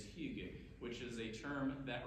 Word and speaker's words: hygge: the trouble is that it's a Danish and a Norwegian term so pronunciation can differ between the two but the closest I've come to saying it is hugu which is a term